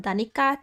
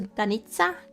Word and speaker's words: Danica: That's why I switched from Danica to Danitsa too, because I wanted the like a t, the t sound.